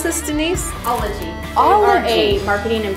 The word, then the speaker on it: Ologie: We are here in Columbus, Ohio at, and how do you pronounce this, Denise? Ologie.